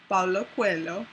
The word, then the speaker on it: Paulo Coelho: named The Alchemist, and it's a book by Paulo Coelho.